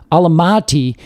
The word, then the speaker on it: Almaty: It's the city of, I think it's pronounced a couple different ways, but Almaty, and it literally means where apples grow.